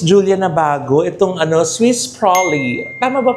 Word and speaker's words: Swiss Prolly: May product din si ano Miss Julia na bago itong ano Swiss Prolly. Tama ba pronunciation ko? Yes po. Swiss Proly. Swiss Prolly.